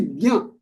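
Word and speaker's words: ज्ञ: J, half j, and nya. So this becomes nya. Okay, that's how it is pronounced, nya.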